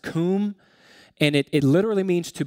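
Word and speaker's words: קום: standing position the hebrew word is um it's pronounced comb and it literally means to become powerful or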